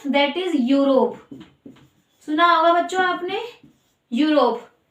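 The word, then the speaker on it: Europe: यूरोप, ये spelling तो ई से शुरू हो रही है पर साउंड यू का दे रही है, यूरोप। यस, इसको हम यूरोप नहीं पढ़ेंगे, यूरोप नहीं पढ़ेंगे बच्चों, गलत प्रोनाउंसिएशन नहीं करना।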